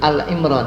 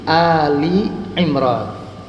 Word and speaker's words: Ali Imran: Tapi kalau Ali Imran bukan Al-Imran ya, tapi Ali Imran.